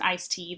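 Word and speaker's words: ISTEA: legislation for you to know about it's called ice tea the Intermodal surface Transportation efficiency act um it's pronounced ice tea that was in 19 1991 um really was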